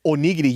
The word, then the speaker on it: onigiri: First of all, it's onigiri, you stupid idiot. You can't even pronounce It's anything.